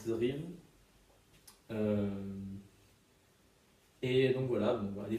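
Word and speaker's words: DRI3V19: Sa chaîne, c'est DR, ça s'écrit DRI 3V19, pardon. Donc ça se lit Drive.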